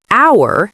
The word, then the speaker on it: hour: For example, in the word knife, the K is silent, and in the word hour, the H is silent, which can be confusing for beginners.